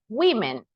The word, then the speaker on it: women: When you are talking about many, we say it like this. Women. That is the pronunciation.